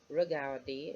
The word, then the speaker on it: regarder: Because remember, in terms of pronunciation, the ER, we're going to pronounce it like an A. So let me not hear you say regarder. Okay, it's regarder.